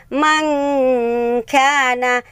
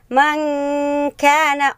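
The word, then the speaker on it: مَن كَانَ: Mangkana, man kana. Huwag mong bibigkasin ng man kana kasi maling-mali po. Okay, dahil ito ay ikhfa. So, ang tamang bigkas is man kana.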